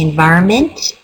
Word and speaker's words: environment: I say we generally say environment, even though the spelling is environment.